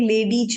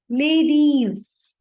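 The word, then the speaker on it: ladies: यहाँ पे बहुत सारे इंग्लिश वर्ड्स में ज की साउंड आती है तो कई लोग लेडीज बोल देते हैं, तो इट्स रॉन्ग. लेडीज.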